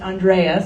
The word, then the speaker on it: Andrea: name is Andrea and my name is pronounced Andrea so a good way to think of it